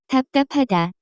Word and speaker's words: 답답하다: The pronunciation of this word is closer to. 답답하다, Notes.